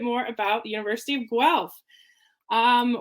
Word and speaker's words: Guelph: about the university of guelph um we always say it rhymes with self i don't know if